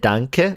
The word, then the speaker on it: danke: is like the shortened version like like thank danke is right like yeah danke is like the shortened like thanks instead of thank you right yeah am i saying it right is it danke or duncan or dank thank ee something